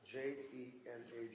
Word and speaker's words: Jena: Kupka, who was the managing director of Avatera Medicals, A-V-A-T-E-R-A Medical in Jena, J-E-N-A, Germany. Yeah, it's pronounced Jena.